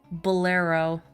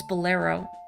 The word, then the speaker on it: Bolero: I'm gonna play the Bolero of Fire. Nope, hang on. I know how to pronounce it now. It's Bolero. Bolero!